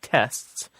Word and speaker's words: tests: in the case of tests it's spelled te s TS right t s TS let's just talk about speaking for a second you actually most of us almost never pronounce the T if we are pronouncing